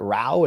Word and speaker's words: row: Well, now we see with this kind of this rift, this is how do the British pronounce it? Row.